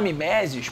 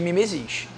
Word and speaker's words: mimesis: É mimesis ou mimesis? Porque se você fala miméses, presta atenção, isso é muito complicado. Tem que ter o quê? Então vamos falar corretamente. É mimesis, OK?